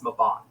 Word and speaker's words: Mabon: and I was like, "How do you pronounce this like ridiculously Welsh name?" And he told me, and it's Mabon.